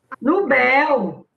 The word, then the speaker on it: Nobel: Nobel. Não, é Nobel. Bel. Nobel. Aí, quando tem mais intensidade.